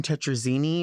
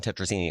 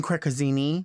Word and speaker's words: tetrazzini: It's just as well, I'd say I haven't had chicken tetrazzini in quite some time. Well, I like when people say it and they mispronounce it. How do they say it? Well, kicking crekazzini, I've heard.